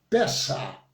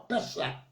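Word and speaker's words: פסח: A pronúncia, mais ou menos, no hebraico é Pessah, terminando com um CH, como se fosse um K no final, Pessah.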